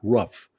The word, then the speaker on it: Ruppff: He pronounced it Scott Ruff, but it was spelled Ruppff.